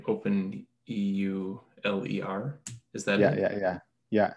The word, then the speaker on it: Euler: And so the question is it about open Euler? Is that how you say it? Open Euler. Mm-hmm. How do you say it? Say it again. I'll get it right. Ola.